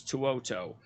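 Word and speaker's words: To'oto'o: Henry Tuoto. Well, Tuoto. So it's basically, okay, so it's Tuoto.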